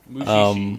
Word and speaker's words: Mushishi: Mushishi, yep.